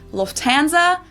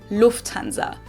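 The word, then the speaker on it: Lufthansa: In English, people usually say Lufanza, but in German, we say Lufanza. So, the emphasis on the first syllable, Lufanza versus Lufanza.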